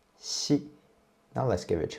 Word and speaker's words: xi: Xi is an aspirated consonant, and it has the same way as when you pronounce qi. Compared to qi, xi is more smooth, and you can feel there's no friction at all in your throat.